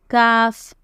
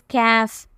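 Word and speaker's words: كاف: Okay, kaf. Kaf. Many people say it is calf, but it is not calf. Okay, if you say calf, it is wrong. It is kaf. You should open your mouth widely.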